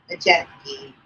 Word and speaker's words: Maciejewski: But yeah, see, I always think of it as Majestic. It's Majeski.